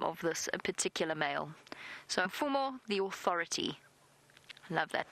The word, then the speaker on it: Mfumo: But the male's name, M-F-U-M-O, for our new viewers, M-F-U-M-O, Mfumo. Mfumo. Mfumo is the name of this particular male. So Mfumo, the authority.